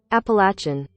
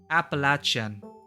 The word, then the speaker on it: Appalachian: wanna know I'm pronouncing it properly ah lakyan pronunciation here it is Appalachian Appalachian Appalachian chin Appalachian Appalachian Okay Google foreign folk